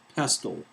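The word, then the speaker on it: PESTLE: one means something the new model is called pastel pastel and that's spelled p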